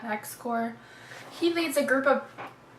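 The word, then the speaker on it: Xcor: It's X-C-O-R. To me, that's Core. I like the X is silent. X-Core.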